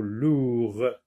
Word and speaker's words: lourd: Lourd. Alors, regardez le mot lourd. Le D ne se prononce pas, c'est une lettre muette. Donc, lourd, non, le mot n'existe pas dans la page 34.